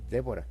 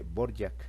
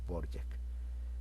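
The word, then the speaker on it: Dvořák: me hizo la aclaración que no se dice Dvorak, se dice Borjak. Entonces ve la diferencia entre Dvorak y su pronunciación correcta que es Borjak.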